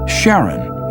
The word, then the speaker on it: Charon: Christie suggested the name Charon after the ferryman of Pluto's underworld in Greek mythology, but preferred to pronounce it Charon, more like his wife's name, Charlene.